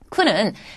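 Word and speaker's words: く: 쿠는 첫음이 왔을 때는 마찬가지예요. 쿠. 그 다음에 첫음이 아닐 때는 꾸 하는 식으로 발음을 하는데 이 쿠라고 하는 글자는 굉장히 쉽습니다.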